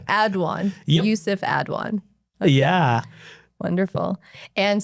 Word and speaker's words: Aduan: So, it's pronounced Adwan, but trust me, it doesn't offend me.